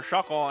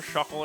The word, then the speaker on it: Shuckle: Poor Shuckle. It rhymes with fuckle.